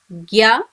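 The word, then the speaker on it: ぎゃ: With gi, we get the sounds as gya, gyu, gyo. With the alphabet G, same as she, you should pronounce it as ja, ju and jo.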